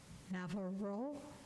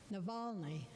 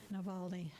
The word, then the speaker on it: Navalny: It's hard to pick a single concern, but I'm picking the death of Alexei Navarro. I'm saying it wrong, I know I am. Pardon? Navalny, thank you. Navalny, Russian activist who bravely,